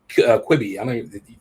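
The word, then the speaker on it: Quibi: about the little um the general was on quibby that's how you say it quitting yeah the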